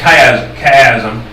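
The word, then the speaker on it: chiasm: a Greek word uh and it it's it's pronounced kaya kayazm.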